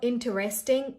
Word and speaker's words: interesting: This is not interesting. No, this is interesting. All right. Hey, that's interesting, not interesting. Don't break it in too many pieces. Interesting. Just say it in one go.